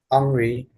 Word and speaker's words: Henri: Henri.